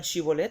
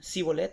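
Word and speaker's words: שיבולת: haber digan chivo let pero ellos en su vocablo no tenían ese fonema no tenían ese sonido y no podían pronunciar la s a entonces cuando les preguntaron digan si bolt et ellos dijeron sí volem y le dieron cuenta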